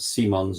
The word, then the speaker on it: Simons: Nance is too sh apparently it's pronounced Simons yeah I know but Simmons to me sucker Square to Gabby